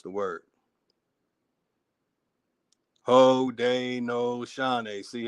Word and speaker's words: Haudenosaunee: They're showing you how to properly pronounce the word. Haudenosaunee.